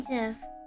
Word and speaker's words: GIF: a m a m GIF yes I know I say it like Jiffy it's a m JF